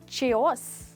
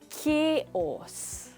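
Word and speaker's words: chaos: वो है, क्या है ये वर्ड? चेओस, च या क? Let's find out. ये है केओस। दैट्स राइट दोस्तों, इसको हम चेओस नहीं बट केओस बोलेंगे।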